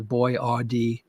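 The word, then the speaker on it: Boiardi: actually from Italy and is was B O I A R D I gentleman's name and they just kind of anglicize it to boy RD for the stupid Americans so we could pronounce it correctly.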